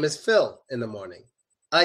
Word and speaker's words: Phil: not homophones at all it's Phil and feel completely different pronunciations Phil pH Phil pH so Phil is my name